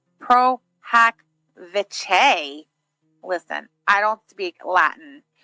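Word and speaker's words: pro hac vice: I'm like 15 minutes back, but just so you know, Pro Hack Vice, oh, thank you, is pronounced Pro Hack Vice.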